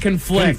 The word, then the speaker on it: conflict: Conflict and conflict. Conflict. Right. All right. You say them different, but they're spelled the same, you see.